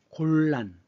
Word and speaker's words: 곤란: 원래는 곤난인데 자 글자대로 발음해 보세요. 곤난. 발음하기 곤란하죠? 그래서 이 난을 란으로 바꿉니다. 원래 이 한자는 난이라고 읽지만 발음이 힘들어서 바꾸는 거예요.